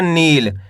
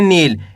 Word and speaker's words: नील: तो मिलके बन जाएगा नील। कैसे पढ़ेंगे? नील। ऐसे नहीं पढ़ना आपको नील। अगर आप नील पढ़ दोगे तो छोटी की मात्रा का उच्चारण हो जाएगा। आपको करने के खींच के पढ़ना है।